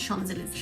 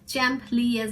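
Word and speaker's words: Champs-Élysées: Shopping centre, ওইটাই হচ্ছে শানজেলিজ। শানজেলিজের যে স্পেলিং মানে ওয়ার্ড গুলো পড়লে এরকম হবে প্রোনাউন্সিয়েশন, মানে আমার কাছে চ্যাম্প লিয়াজ ইজ সামথিং এরকম হবে, বাট এটার প্রোনাউন্সিয়েশন ওইটা না, এটা হচ্ছে শানজেলিজে।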